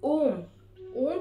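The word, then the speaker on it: ॐ: ओम उच्चारण करते वक्त अगर जितना आप म पे फोकस करेंगे उतना ज्यादा इस चीज की पावर बढ़ती है। यानी कि आपको ओम का उच्चारण कैसे करना है, ओम।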